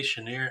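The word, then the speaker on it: Cheniere: You look at uh how do you say Chener? You say Shaneer LG ticker energy.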